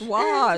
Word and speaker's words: wash: It's wash. WASH. Wash. Wash. There's You're no pronouncing R.